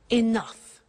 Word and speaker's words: enough: she doesn't have enough money now this word enough enough it's written e n o u g h the pronunciation is enough what does it mean let